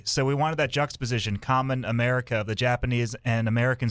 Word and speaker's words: Kamen: it's spelled it's um kam en common as in for people out there who like Japanese TV shows Kamen Rider yeah common right um so it's kind